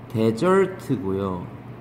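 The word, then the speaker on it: desert: 얘하고 비교되는 항상 예잖아요 얘는 발음이 대절트고요 명사로 쓰면은 사막이에요 얘가 발음이 디저트로 발음하기도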